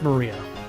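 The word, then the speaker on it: 真里亞: Uh is pronounced Maria.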